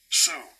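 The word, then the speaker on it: σύ: It's S-Y. Okay, it's this word. Strong's G, 4771. Sue.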